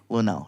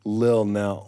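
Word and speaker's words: Lunell: Linnell. She. Oh, Linnell. Linnell. One name. Yes. I thought it was like Lil Nell. No, Forget it. not Lil Nell. Linnell.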